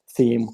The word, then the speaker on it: Tim: And we just used the Romanian pronunciation for theme, which is like theme.